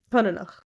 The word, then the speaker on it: coineanach: This is how it's said. Konenach. COINEANACH. And I went, no. But I tried to remember it by, like, coin, and then each is cut up, and then at the end.